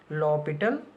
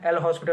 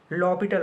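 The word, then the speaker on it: L'Hôpital: हुआ मिल सकता है, कुछ लोग इसे हॉस्पिटल रूल पढ़ते हैं, एल हॉस्पिटल रूल, लेकिन ऐसा नहीं है। इसका प्रोनाउंसिएशन क्या है? लॉपिटल rule. ओके, एच यहाँ पे साइलेंट है। ओके, और एस नहीं है, ओ के ऊपर 2 बिंदी होती है। ओके, बुक्स में लिखा होता है हॉस्पिटल, लेकिन उसको हॉस्पिटल प्रोनाउंस नहीं करते हैं।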